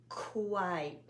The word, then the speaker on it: quite: um the q u always sounds not always but almost always sounds like a kw sound qua repeat and then when we have two vowels in a one syllable word usually the second one is silent and the first one sounds like the name of the letter what's the name of this letter i i i why quite nice strong k sound